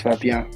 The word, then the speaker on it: Fabien: name is Fabien, and what do you want to call it?